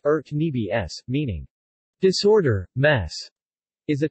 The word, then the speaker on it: urnebes: her needs serbian cyrillic our needs pronounced earth' me BS meaning disorder mass is a type of salad